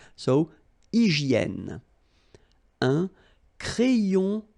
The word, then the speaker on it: hygiène: H doesn't exist, H doesn't exist in French, so hygiène.